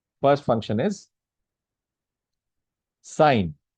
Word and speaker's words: sine: So don't call it as sin. Don't pronounce it as sin otherwise you'll be committing one.